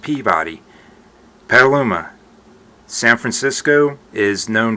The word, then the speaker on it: Peabody: Out west, it's pronounced Peabody.